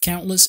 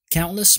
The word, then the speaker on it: countless: Cause the deaths of countless innocents. Countless معناها لا يحصى لا يعد. بتنطقها كده. Countless. Countless. Countless. كأن ما فيش حرف T.